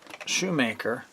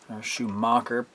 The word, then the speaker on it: Schumacher: and I also ordered from shoemaker Schumacher properly pronounced new wheels to fit